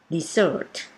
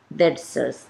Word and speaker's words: dessert: แล้ว นะ คะ The Human Is In effect dessert dessert แปล ว่า ของ หวาน ขนม หวาน นะ